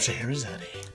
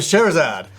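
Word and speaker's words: Scheherazade: game magic of shahadi I got him to pronounce it cuz I keep I over the years I've always it up I always the magic of sherad you know and I'm like no no that's not how you pronounce it but this is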